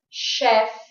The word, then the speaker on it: chef: And don't think that every word that has a CH has a ch sound.